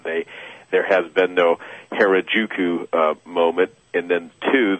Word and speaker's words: Harajuku: uh when when you uh how do you pronounce her you say the heruka movement oh Harajuku yep yeah Harajuku you you you you say in that the